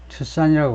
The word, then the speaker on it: Tucson: 레이먼 아이슬러가 말인데, 아이슬러스, 레이먼 이슬러스, 라틴 계통이면 이슬러스라고 발음할 텐데, 58, a fiction writer and high school teacher in Tucson, 아리조나, 투싼이라고 발음하죠.